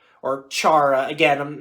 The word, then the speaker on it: Chara: a really hard name it sounds like kara at first but then when you realize that h is not silent so yeah all their